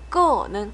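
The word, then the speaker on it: 各: 아침, 저녁에 끄는 각각, 끄 사성으로 주의, 끄 이스 하면 각각 한 번.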